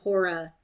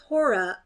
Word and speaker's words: Hora: Or is it rather that Hora, as now they call her, the first syllable pronounced long, being a kind of